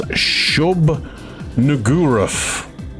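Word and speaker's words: Shub-Niggurath: It's Shub Nuguruf, but it is spelt the N-word way.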